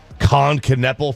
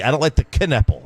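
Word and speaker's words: Knueppel: You could be taking Con Kneppel from Duke. You pronounce the K?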